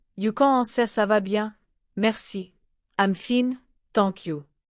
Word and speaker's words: bien: Notice again, the sound bien. It's written bien, but in listening, the N is soft, presque nasal. Say it with me, bien. That nasal sound is very French, and you will hear it often, bien, matin, vin, pain.